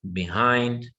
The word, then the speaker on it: behind: Above, behind, complete. Again, all of them are 2 syllables. Same thing, 2 syllables. But now our stress is on the second syllable.